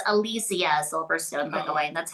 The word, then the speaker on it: Alicia Silverstone: Um, it's Alysia Silverstone, by the way. That's how it's pronounced.